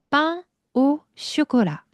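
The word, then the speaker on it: pain au chocolat: 자, 한번 발음해 보죠. Life is 빵오쇼콜라.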